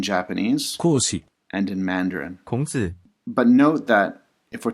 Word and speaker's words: 孔子: In Korean, it is pronounced, 공자, in Japanese, 講師 and in Mandarin. 孔子 But note that if we're talking about the philosophy of Confucianism, Confucius' name does not appear.